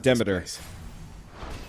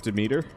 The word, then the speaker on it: Demeter: lot of cash okay in this game they pronounce it demeter but a lot of people usually go with demeter i think both are valid one is more archaic than the others personally i like calling